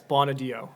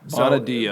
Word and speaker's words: Bonaddio: Yeah, it's Bonaddio. Bonaddio. So the second D is what throws everyone off.